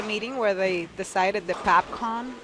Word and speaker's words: PABCON: So I actually put my hand up and said, why don't we just go PABCON, like in English, because it sounds like popcorn, and it's pretty cool. Yeah. It sounds. It's easier phonetically to pronounce.